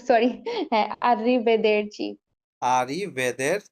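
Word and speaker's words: arrivederci: আররি বেদের আবার শুদ্ধভাবে বলি আর ও সরি আরবেদের আরি বেদের চি আমরা ভালটার সাথে ভাগ করে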